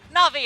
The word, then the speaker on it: Na'Vi: Na'Vi, I said it right there.